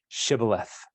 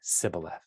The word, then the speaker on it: Shibboleth: And so they couldn't say Shibboleth. And so the Gileadites killed any person that came over that said Sibboleth.